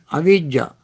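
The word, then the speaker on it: avijjā: Don't confuse abhijja with avijja. Abhijja is spelled in Pali A, B, B as boy, H as Harry, A, J, J, abhijja. Avijja is spelled as A, V as Victor, I, J, J, A, avijja. Avijja with V is ignorance.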